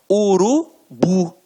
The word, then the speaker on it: urubu: A última sílaba é a tônica. Então, exemplos: urubu, motel, marajá. Reparem que na hora da pronúncia, de forma mais aguçada, você vai perceber que realmente a pronúncia da última sílaba ficará mais forte. Aqui, ó, urubu, motel, marajá. Então, realmente, a oxítona tem a sílaba tônica na última sílaba.